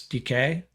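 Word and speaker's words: Dike: uh from Miami oh I said Dyke it's DK sham DK sh DK he's just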